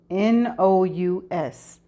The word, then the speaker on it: monotonous: The word that I can't pronounce is spelled MONOTONOUS, and this is how it is pronounced. Monotonous.